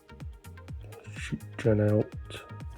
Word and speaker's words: Janelt: Gerdes, Becker, Janelt, that's how you pronounce it, Harry Wilson, John Paul Van Heck, Sandro Tonali.